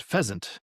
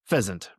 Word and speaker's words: pheasant: It sounds like pheasant. It's got a Z sound in the S, but it's spelled S. P H E A S A N T. Feasant.